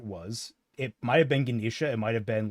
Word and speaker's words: Ganesha: a painting of it's Ganisha with the uh elephant head, right? Yeah. Ganesha. Yeah, Ganesha. Thank you. I just wanted to make the pronunciation correct.